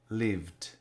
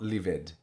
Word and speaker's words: lived: verbs in the simple past have the IDI pronounces T in English so lived lived not livid and there's only one exception really any words